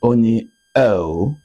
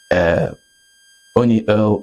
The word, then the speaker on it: Onyi Ough: I'm still in the studio with Onyi Ough. You know why I insist on pronouncing that word very well so that you understand who she is. Onyi Ough is the founder of Step Up Nigeria.